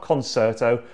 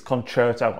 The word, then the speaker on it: concerto: It's not concerto, it's concerto.